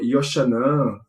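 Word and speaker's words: Yochanan: E ele traz os nomes e os termos, né, fiéis à sua pronúncia no hebraico. E ele traz termos como, por exemplo, João, ele vai dizer Yoshanan, Jesus vai estar como Yeshua, Josué vai estar como Yehoshua.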